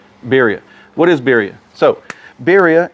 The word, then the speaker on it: birria: how you say it i'm not very good at rolling my r's beeria spelled b-i-r-r-i-a beeria what is beria so